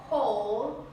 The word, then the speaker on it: whole: Bueno, un pequeño dato muy interesante es que hay palabras que comienzan con W, pero esa W de hecho es muda y van a comenzar con este sonido de H pronunciada, es decir, la que no es silenciosa.